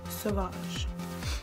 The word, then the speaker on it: Sauvage: You can't see it, but it actually has an accent mark on there so that you say it like that. Sauvage.